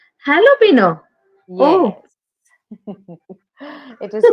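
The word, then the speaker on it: jalapeño: is not pronounced as jalapeno it is pronounced as jalapeno jalapeno yes it is pronounced as jalapeno J is not Sil like J is silent and actually ha the pronunciation begins with ha jalapeno jalapeno oh yes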